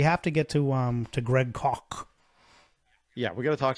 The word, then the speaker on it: Koch: Annoyed he is by he said it's Koch, like German.